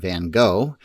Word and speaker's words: Van Gogh: Today we will be looking at a painting by Vincent Van Gogh, or if you are in many other parts of the world, Van Gogh.